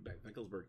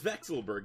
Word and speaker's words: Vekselberg: I think that's how you say his name, Vekselberg.